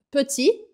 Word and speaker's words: petit: pequeno não é pe presta atenção na pronúncia é pe e esse som que é pe não é pe esse som e e que não existe em português você vai partir de um som do o em português tá vendo a